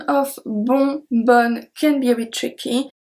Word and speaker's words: bonne: So you agree that for BONNE we pronounced the B we pronounce the O and we pronounce the NN of course we don't pronounce the E. So BONNE.